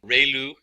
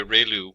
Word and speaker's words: ReLU: function, we have the ReLU, it's pronounced like ray, the ray from the sun, and lu, like a name, so ReLU function.